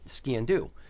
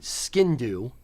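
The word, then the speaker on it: sgian dubh: ski and do um where you kind of say it fast or say skin do it's not skin like your skin color it's it's not skin do it's s-g-i-a-n you're actually pronouncing almost all the letters where we're not really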